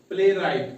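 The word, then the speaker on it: playwright: है साइलेंट रहता है लेटर डब्लू साइलेंट रहता है आर से पहले। ये कुछ हमारी एग्जांपल्स है। डब्लू के बारे में शॉर्ट रूल है। आर से पहले डब्लू क्या रहता है? साइलेंट रहता है। ठीक है? एग्जांपल्स है हमारे पास पी एल A double R आई जी एच टी। क्या बना? प्ले राइट।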